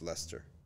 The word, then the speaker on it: Leicester: Leicester, spelled Leicester, but it's Leicester, right?